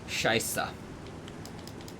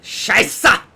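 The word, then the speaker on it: Scheiße: Scheisse. Scheisse. I know the funny-looking B isn't a B sound, it's a S sound.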